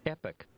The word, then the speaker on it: epoch: discovery meaning of epoch let me see the pronunciation epic epic that's pretty epic uh